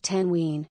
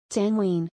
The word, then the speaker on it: تنوين: These can be called tanween. Tanween. Tanween. The three vowel diacritics may be doubled at the end of a word to indicate that the vowel is followed by the consonant n.